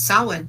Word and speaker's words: Samhain: To pronounce Halloween, it's Samhain, like a pig's ear. Samhain.